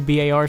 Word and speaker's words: BAR: the original World War ba R and that's how I'm gonna pronounce it I'm not gonna say bar I'm gonna say BA